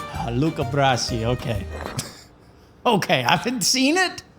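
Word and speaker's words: Luca Brasi: Luca Brassi. Luca Brassi.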